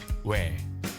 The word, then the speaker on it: ㅞ: "ㅞ". Think of it as "ㅞ"= ㅜ plus ㅔ. Pronounce it as one syllable.